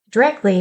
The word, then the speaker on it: directly: Directly falls into the dialect category of vocabulary, and it's pronounced directly with 2 instead of 3 syllables.